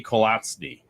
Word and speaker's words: Kolatzny: So this week, this week, we have, I'm going to screw it up, even though it's just as it's spelled, Kolatzny. I think I got that right.